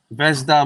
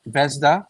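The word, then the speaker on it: Zvezda: it is the I I think the the Z is silent so it's vda vesda vesda model kit right vesda am I right let me know if I'm right it's pronounced is vesda no what I mean oh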